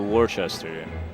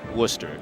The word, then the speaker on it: Worcester: this Julia the Scheinman you switched from Boston to Worchester or as the locals may call it Worcester yeah okay I was gonna say they skip a lot of letters that's I think it's